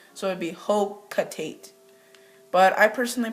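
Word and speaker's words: Hocotate: A lot of people say Hokotate, I don't know why, it's Hokotate, but then again, I don't know, I have to reference the Japanese syllables.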